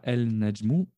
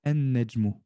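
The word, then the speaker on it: النجم: Donc on ne dira pas el najmu, mais plutôt en najmu.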